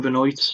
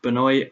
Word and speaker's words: Benoit: The first time I'd seen the fight is Ryan Benoit, not Benoit, despite how his surname is spelled.